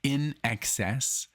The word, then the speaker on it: INXS: video and yes I I finally know how to say the um the name of the band in excess I didn't know that it meant that it was just like I nxs I guess you know